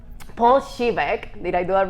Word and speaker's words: Siwek: Yeah, it's actually Siwek. Most people struggle with it. It's Polish, so it's not very traditional. I love that. I didn't know that. Pronunciation. Paul Siwek.